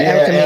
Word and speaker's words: Erica Mena: That's how you pronounce her name, right? Yeah, Erica Mena.